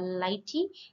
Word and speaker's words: lighttpd: and functionality and next this is pronounces uh Lighty and this is a